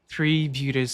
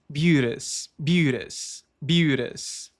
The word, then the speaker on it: beauteous: Na pronúncia do inglês americano, esse Tzinho aqui se transforma em flap, ou seja, aquele quase R típico do inglês americano em certas palavras. Então não dizemos beauteous com um T seco, mas com flap.